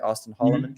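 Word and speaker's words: Auston Holleman: Austin Holloman?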